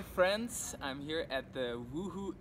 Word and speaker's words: Woohoo: I'm here at the woohoo Inc that's woo right that's how you pronounce it actually and sitting here with